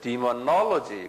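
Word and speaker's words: demonology: 그러니까 디모놀로지 그래. 디모 액센트가 여기 있어요.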